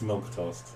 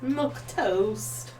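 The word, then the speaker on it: milquetoast: and mandy oh she's all milk toast are you sure all the time it's got q in it it's milk it's pronounced milk toast milk toast it was like the old timey english way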